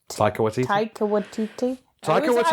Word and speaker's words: Taika Waititi: Taika Waititi. I was going to say Tika. No, Taika Waititi and Kate Blanchett as well.